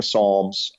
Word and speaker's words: Psalms: the book of per Psalms I can't find Jesus anywhere in here you keep talking about it where is he he said well the P is silent at Psalms you got to go